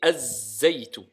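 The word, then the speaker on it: الزيت: Donc on écrit alif wa lam mais on ne prononce pas le lam. On dit az-zaytu.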